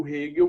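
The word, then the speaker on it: Hegel: que é o frederich hill o vídeo tá se escreve egeu mas é rio o rego foi foi um talvez provavelmente o filósofo mais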